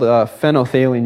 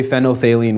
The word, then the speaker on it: phenolphthalein: phenolphthalein with me, because when you see it written, there's like a PHENOL, HALEIN. It's kind of a really weird word. And when students first say it, they never say it right.